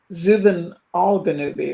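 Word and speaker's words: Zubenelgenubi: Is that how you pronounce it? Zuben Zubanel Janui, too, but I've heard Ganubi. Proving once again that there are multiple pronunciations for these things. Yeah. And I think Michael called it something like Zuben Alanubi or I don't know.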